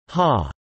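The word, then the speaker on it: ห้า: Such short-handed language is not limited to Filipinos, they use 5555 to denote ha ha ha ha, since the number 5 in Thai language is pronounced as ha.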